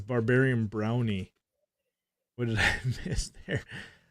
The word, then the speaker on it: Braunny: So pronunciation is brownie. Brown. Yep. Brown. Oh, dude, you just freaking schooled us, dude. I've been saying brawny.